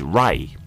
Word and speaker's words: Ra: Radio comes from the Latin radius and means Ray Theos is actually a Spanish word meaning God